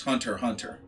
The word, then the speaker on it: Hunter x Hunter: uh number seven uh hunter x hunter or actually pronounce hunter hunter um so one of